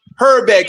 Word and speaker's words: Hrbek: Herbeck is spelled Hrbek.